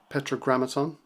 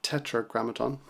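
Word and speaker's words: Tetragrammaton: Rick rubin's podcast um Petra grammaton I think it's pronounced sorry Tetra grammaton and he had um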